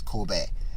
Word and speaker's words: Kobe: Kobe is what they say, but his name is Kobe. So it's Kobe.